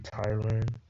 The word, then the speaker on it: Thailand: Maybe Thailand, just because the H is silent.